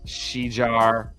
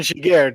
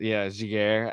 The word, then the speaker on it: Giguère: You said Quick, Miller, Shijar, or whatever you pronounce that. Jean-Sebastien Giguère, JSG. Giguère, and Henrik Lundqvist, the one dude who doesn't have a championship on that list.